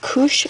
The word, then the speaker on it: couche: And it's on this, I think they pronounce it couche sheet. It looks like the word couch.